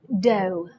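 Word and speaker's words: dough: one it's pronounced cough the second one is pronounced doe the third one is pronounced plough the fourth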